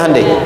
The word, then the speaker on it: Hyundai: Sehingga ketika di sana bikin Honda, sini Hande Hyundai kan dibacanya Hande ya kan.